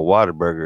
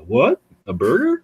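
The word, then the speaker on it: Whataburger: it's like a burger that's how it's spelled right that is not how you say it that's how they do the commercials though they go what a burger and there's actually a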